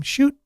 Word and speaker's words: Chute: arrival of Sudbury sensation Megan chute or shut depending on how you pronounce that I know family that pronounce their name shoot in the fall of